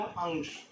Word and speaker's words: अंश: ओ औ अंग आह, तो जो आप अंग का उच्चारण करते हैं उसी तरह से आपको यहाँ अंश में अंग का उच्चारण करना पड़ेगा, तो इसका सही उच्चारण बनेगा अंश।